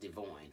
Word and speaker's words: DeVoin: They call him Devon, but it's pronounced DeVoin.